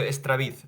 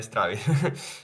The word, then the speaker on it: Estraviz: solo para decir que es Darío Estraviz, no Straviz.